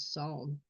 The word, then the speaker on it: psalm: And the first word is psalm. Psalm. First letter is grayed out. So that's because it's silent and we don't have a page for silent letters, sounds, silent sounds are not sounds.